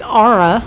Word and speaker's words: Ara: one so at least we know it's ARA which I would expect a you in there for that pronunciation but okay so all